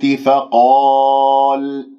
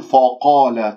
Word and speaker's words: فقال: تختلس الكسرات، فقال أنبئوني، فقا لا تقول فقال، تفخم الفاء بسبب مجاورتها للقاف المفخمة مرتبة أولى لأنها مفتوحة بعدها ألف، فأنت تنطق الفاء فا فقا فقال، ولا تقول فقال، لا تكور الشفاه، هذا خطأ، فانتبهوا بارك الله فيكم.